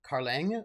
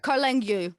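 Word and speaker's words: Carlingue: one against the carling willian says it's pronounced uh like carlang like meringue karl engu yeah karl engu and then one against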